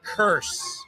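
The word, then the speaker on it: Kearse: Javon Curse. Oh, AND OH, BUT HOW' YOU OH, curse spelled like a K E A R S E.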